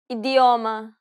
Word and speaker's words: idioma: First, let's see the two ways you can pronounce the D. Saudade, saudade. Idioma, idioma.